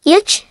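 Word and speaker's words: üç: iki, pronounced like iki, uc, pronounced like yuch, dort, pronounced like dirt,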